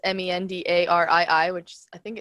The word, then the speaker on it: Mendarii: So it's Mendarii, which I think it's spelled underneath over here.